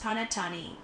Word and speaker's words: panettone: Pronounced panettone.